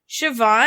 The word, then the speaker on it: Siobhan: behind Siobhan Fallon Hogan's Siobhan yeah where's the V in this is that the name that's how you pronounce that yeah it's what it's Irish I think Siobhan never knew about that